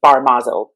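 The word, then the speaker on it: Barmazel: the way the name had been spelled and pronounced initially when they came here was bar mazel b-a-r-m-a-z-e-l and for any hebrew speakers who might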